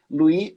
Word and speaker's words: Louis: E aí lá tinha um autor chamado Louis Frankenberg. Louis, que é uma pronúncia francesa de Luiz, como é escrito, né?